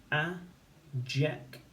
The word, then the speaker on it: adjective: Adjective, adjective. And there's a j spelling in the second syllable. And we can see that it's the DJ, spelling of j, and we can write it.